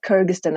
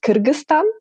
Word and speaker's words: Kyrgyzstan: what is kyrgyzstan so because we pronounce it in a various ways like kyrgyzstan or kyrgyzstan or kyrgyzstan um if we if we pronounce it in our language it would be kyrgyzstan so yeah basically it's